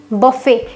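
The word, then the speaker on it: buffet: बफे इसकी spelling देखिए बुफेट लिखा हुआ है। पर इसको पढ़ते हैं बफे।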